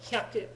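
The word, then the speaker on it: 百: a new word Haku pronunciation note not to be confused with ha which means hurry up or quickly okay so hayaku is hurry or quickly hak is 100 entirely different words but the pronunciations are close enough that Americans sometimes struggle so Haku was 100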